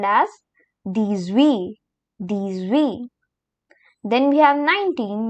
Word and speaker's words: dix-huit: Then we have 17, which is pronounced as dix-sept. Dix-sept. And here comes 18, which is called as dix-huit.